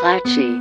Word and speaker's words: Claxheugh: that impressive Cliff face that's clenchy Rock spelled plaques you but pronounce clachy a love brick